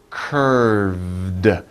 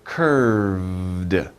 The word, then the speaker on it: curved: little hard to pronounce curved remember the v sound right in the middle and you make a little vibration with your throat so curved curved and then you stop